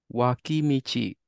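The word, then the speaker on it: 脇道: So this right here is not pronounced as dol. Do you know how this is pronounced? Wakimichi. Perfect.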